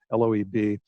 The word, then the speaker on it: Loeb: Gerald Lieb, or Loeb, Loeb. I say Lieb because we had a neighbor, and that's how he pronounced it, but most people would say Loeb, Loeb.